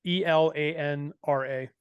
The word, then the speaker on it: Elanra: in the show notes as well yes so it's spelled the e-l-a-n-r-a elanra perfect so we covered almost every single